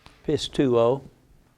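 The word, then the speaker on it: πιστεύω: Pistuo.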